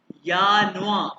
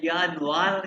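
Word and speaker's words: Januar: अच्छा, ये प्रोनाउंस करना है यानुआ, आर को प्रोनाउंस नहीं कर, आर कहते एर, एर, ठीक है। ये अगर हम एर को फिर यानुआर नहीं, यानुआर नहीं, जेनुअली में प्रोनाउंस करते यानुआ, यानुआ मैं प्रोनाउंस करूं,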